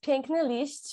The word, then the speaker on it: Piękny Liść: And also how to pronounce it. Okay. So it's Piękny Liść, which is Polish, which means beautiful leaf.